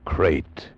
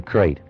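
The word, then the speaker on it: krait: Tonight, we escape to India, and the story of a man trapped in his bed by a crate, the most deadly, poisonous snake in the world, as Roald Dahl tells it in his terrifying story, Poison.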